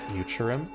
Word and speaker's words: Futurum: Futurum. That's the name of this planet. That's how it sounded pronounced in the local tongue.